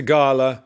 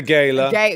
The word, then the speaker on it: gala: yes Gala it's a Gala it's a Gala better than a Gaya G you don't want to say Gayla you don't want to